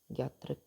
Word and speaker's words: ज्ञात्रिक: जे silent है ना, ज्ञात्रिक clan.